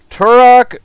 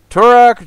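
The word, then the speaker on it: Tourach: see they're really killing it i hope i pronounced this right turok dread cantor is that correct come on autofocus there it is turak dread counter good job trevor said nice jade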